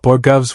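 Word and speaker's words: borogoves: And after hearing him talk about borovs, which is how you actually pronounce it, I found a couple of interesting things I'd like to share.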